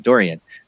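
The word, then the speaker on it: Dorian: soup tonight a hurricane Dorie Doreen Dory during I keep saying it wrong what I kiss a durian right durian hurricane durian want to get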